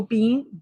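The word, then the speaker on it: Biehn: 65 years old our next person is Michael Bean Ben Michael Bean be e pronounced like the be e in Michael American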